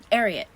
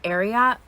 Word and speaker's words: Ariat: the wild it's um ariat and i know everyone calls it ariat but i just learned that this brand is based on the um award-winning horse secretariat so if it's ariat that's how it's gonna